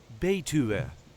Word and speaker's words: Betuwe: This is the way we say Betuwe.